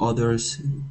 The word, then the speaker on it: other: to understand you and the word other uh OT quite often words with an O um the o letter is not pronounced O It's pronounced as a as in up so much easier for